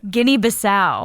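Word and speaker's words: Guinea-Bissau: How do you say it? Guinea Basau. Guinea Basau.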